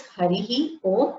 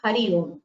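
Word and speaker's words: हरिः ॐ: Ma'am, it is Harihi Om or Hari Om. Harihi Om is the correct way to say it. Harihi, the visarga has to be heard.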